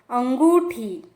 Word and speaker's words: अंगूठी: तो जब अ के ऊपर चंद्र बिंदु आता है तो उसका उच्चारण हो जाता है अंगूठी, अंगूठी, रिंग।